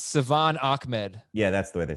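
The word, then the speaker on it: Salvon Ahmed: score touchdowns okay yeah we butchered it it's savan ahmed yeah that's the way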